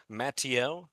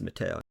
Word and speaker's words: Mateo: His name will be Matteo. Is it Matteo? Yeah, it's Mateo. Yeah, amazing. Matteo, guys, get it right, pronounce it right.